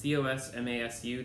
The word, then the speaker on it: COSMASU: That's COSMASU. The canonical pronunciation of that is Cosmasu.